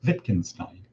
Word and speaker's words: Wittgenstein: it to religion for example it's called the wittgenstein limits and that is spelled with a w but it's pronounced wittgenstein ludwig wittgenstein great 20th century philosopher from cambridge so the